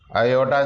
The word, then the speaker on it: iota: So in complex number we have assumed, let under root of minus 1 is equal to iota, so that iota square becomes minus 1. This is pronounced as iota.